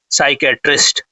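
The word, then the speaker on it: psychiatrist: तो जो mental disorder को डज करता है उसको बोलते हैं साइकेट्रिस्ट। ठीक है? तो यहां पर देखिए पी साइलेंट है। याद रखिएगा। नहीं तो फिर प्रोनंसिएशन में दिक्कत होगा।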